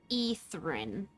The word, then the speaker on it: Ethrin: And I've been pronouncing it wrong. It's actually Ethrin.